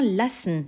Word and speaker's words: lassen: Tu entends lassen. Le A est bref. Pourquoi? Car il y a deux S derrière.